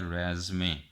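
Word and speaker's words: résumé: रीज्यूम इसे पढ़ते हैं, लेकिन ये सेम वर्ड एक और साउंड में आ जाता है जिसको कहते हैं रेज़मे। सेम स्पेलिंग है, सेम वर्ड है, लेकिन उसका एक और साउंड है रेज़मे।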